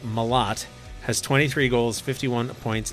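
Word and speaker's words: Malott: the Ontario rain today mot and it is pronounced mot has 23 goals 51 points in 61 games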